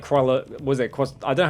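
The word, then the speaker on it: Croixleur: interested that and like crawler was it because I don't have to but I had to pronounce it like koala the c-r-o-a-x-l-e-u-r it's like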